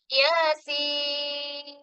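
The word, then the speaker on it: يس: യാസീൻ. യാനെ 2 ഹർക്കത്ത് നീട്ടുക, സീനിന് 6 ഹർക്കത്ത് നീട്ടുക.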